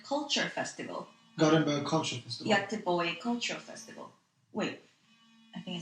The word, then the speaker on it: Göteborg: In Sweden, Göteborg. Göteborg. Göteborg. Am I saying it right? Yeah, you're saying right.